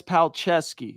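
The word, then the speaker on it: Palczewski: the Broncos media guide Alex pal Dash chess like you're playing chess Dash ski like let's go skiing Alex pal chess ski so fight me on it that's how you say his name according to the Denver Broncos paleski paleski paleski I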